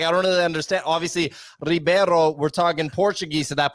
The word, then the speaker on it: Ribeiro: don't really understand obviously Ribeiro we're talking Portuguese at that point if it was Brazil you would do hibero the age pronunciation at the beginning of the word Nick I regret bringing